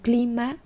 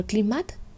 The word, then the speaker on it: climat: Chúng ta không đọc là climat, mà chúng ta đọc là climat.